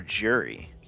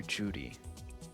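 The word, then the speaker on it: Juri: as guile trust me Judy or jurri or Yuri whichever you prefer I'm going to call her Judy because that's how the announcer pronouncers is her name uh Judy I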